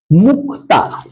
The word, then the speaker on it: মুক্তা: যেমন ধর আমি যদি বলি মুক্তা ঠিক আছে যদি আমি বলি ধরো মুখতা উচ্চারণের সুবিধার্থে এর উচ্চারণটা হয় মুকুতা আশা দেখা যাচ্ছে মুখতা থেকে মুকুতা ঠিক আছে তাহলে দেখো